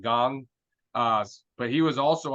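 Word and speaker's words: Kang: Pirates yeah yeah but he actually pronounced it gong uh but he was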